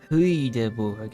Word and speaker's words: Hoyaborg: I forgot to mention that this town is called Hoyaborg or Haborg if you're going to try to pronounce it correctly.